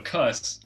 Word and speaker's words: Koos: All right, so Cuss, I've mispronounced his name for the longest time, so I'm going to flip the introduction upside down. And I called him Koos for the longest time.